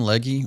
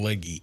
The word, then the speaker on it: Legge: I'm really excited, by the way, that last week Catherine Legge raced, and I stop. What? You can't say Catherine Legge. What is she? It's Catherine Legg. You can't put the E on It's spelled L.